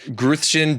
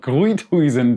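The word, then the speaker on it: Gruithuisen: saying it at least I think we're all butchering it hi TJ hi Sharon I just saw you suffer with this name and since I am from Germany let me correct you there with the pronunciation it is called gooey toys and domes and uh now how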